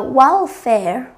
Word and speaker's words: welfare: Và đáp án D chúng ta đọc là welfare, trọng âm của nó sẽ rơi vào âm 1.